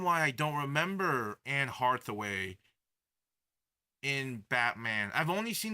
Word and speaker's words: Hathaway: It's Hathaway, not Hardaway.